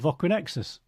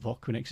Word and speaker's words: Voquinexus: Well, Voquinexus is Voquinexus, it's four.